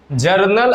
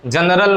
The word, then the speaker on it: जर्नल: ठीक है, जर्नल और जनरल बड़ा उच्चारण में बच्चे गलत करते हैं। याद रखिएगा ये जर्नल है, जनरल नहीं है।